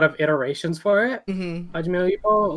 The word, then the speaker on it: Hajime no Ippo: Alright, so Hime no Ippo. How do you say it? It's Himo? Hajime no Ippo, or that's how I remember it.